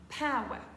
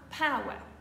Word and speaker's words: power: dire power mais ici il faudra bien faire attention à prononcer un son comme quand on dit waou on dira power encore une fois power